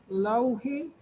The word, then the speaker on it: laughing: el sonido largo, while, y la L que suene bien, while he was laughing, esta G y esta H se pronuncia como, viene como una F, laughing, while he was laughing, she was not crying.